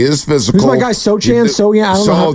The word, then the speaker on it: Sochan: Sochan? Jeremy Sohan. Jeremy Sohan. I always forget how to pronounce that last name.